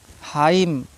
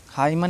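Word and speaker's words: hymn: silent हो जाता है एम और एन अगर एक साथ आए हैं तो एन साइलेंट होता है लेकिन याद रहे एम के बाद एन आया होगा तभी साइलेंट होगा ठीक है ऑटम इसको ऑटम नहीं पढ़ा जाएगा कालम ठीक है डैम हाइम हाइमन नहीं पढ़ा जाएगा ठीक है बहुत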